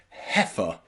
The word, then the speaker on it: heifer: Also in some place names like Leicester, and some very rare words like heifer, heifer. Okay, you'll see the E and the I pronounced E, E.